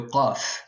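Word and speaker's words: قاف: une fois vous avez un cas clair un CF et le Kaf qui est donc beaucoup plus sombre euh par exemple CF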